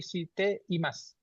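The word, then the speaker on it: しています: Tidak si te dan mas tapi si TE IMAS.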